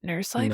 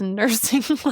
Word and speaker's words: Nursing Life: I was like, wait, it's not nurse life. No, it's nursing life. It is. ING. There is an ING in that.